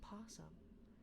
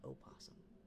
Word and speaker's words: opossum: Because my partner's like, no, you don't pronounce the O.